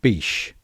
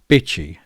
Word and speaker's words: Bitche: little town in France called Bitche, or Bitche, as Sarah likes to call it because of how it's spelt. And to be fair, it does sound better.